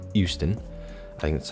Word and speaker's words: Euston: It's not Houston, like Houston, Texas. It's Euston.